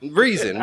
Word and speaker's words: Reason: Man, no one knows who Ransom is except for like us. Yeah, you got his name wrong. It's Reason, whatever.